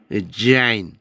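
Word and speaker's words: זַיִן: 이거는 지읒 발음이 아니라 영어의 Z 발음이라는 거. 지읒 발음하고 Z 발음은 달라요. 지읒 발음으로 가면은 지저스 할 때 좀 가볍죠. 지읒 발음은. 얘는 즈 이렇게 쉬 하듯이 자인 이렇게 한다고요.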